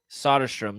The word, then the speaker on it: Soderstrom: How do you pronounce his last name? Soderstrom? Soderstrom.